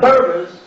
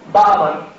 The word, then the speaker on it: Berber: The Berbers, which is a mispronunciation of Barber, which comes from the word barbarian, conquered and brought in Islam to Morocco.